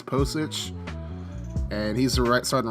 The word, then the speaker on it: Pocic: And Ethan Pocic, I believe that's how you say, or I don't know how you say his name. I think it's Pocic.